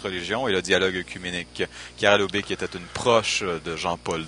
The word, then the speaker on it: Chiara Lubich: Les Focolari, en fait, c'est comme il l'a dit, alors je précise, hein, c'est Chiara Lubich, la prononciation exacte, sinon ça fait un lapsus tout à fait absurde.